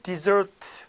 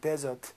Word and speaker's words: desert: 동그라미 치고, 다섯 번째 desert. 이 단어 사막인데, 맞아요. 명사로 일단 사막이지. 명사를 발음은 desert야, desert. 하지만 동사로 쓰면 desert, 버리다.